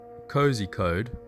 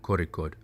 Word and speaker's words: Kozhikode: from Goa to Kozikhode, which is spelt Kozikhode, but don't say that because only tourists call it that. It is Kozikhode.